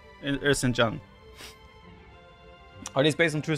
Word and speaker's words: Erzincan: So the thing I took here from it is pronounced Erzincan.